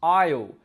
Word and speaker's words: I'll: Now, lots of my students struggle, have difficulty to say the word I will, the contracted form, which becomes I'll, which is pronounced the same as the word I'll, A-I-S-L-E.